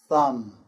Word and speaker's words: thumb: For example, climb, comb, thumb, and bomb. The B is silent there.